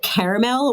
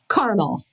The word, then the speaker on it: caramel: Do you say caramel or caramel? Caramel. You say caramel? Yeah. Why add an extra syllable?